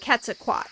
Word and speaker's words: Quetzalcoatl: Same for like Quetzalcoatl. That's why I'm not saying the L because of this book. The TL sound, the L is kind of silent.